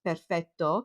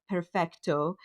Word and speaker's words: perfetto: Like even such a simple word as perfect in Italian is perfetto, but in the movie gets pronounced as perfecto with a T.